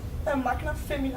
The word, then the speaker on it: Magna Femina: No, thank you very much for tuning in, and please support these lovely ladies on the how would you pronounce it? Magna Femina.